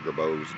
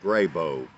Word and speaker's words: Grabow: Now, I guess just for a little bit of history, it's been pronounced two ways, Dr. Grabow and Dr. Grabow. I'm fine either way. Sometimes I'll say either one. Usually I say Grabow.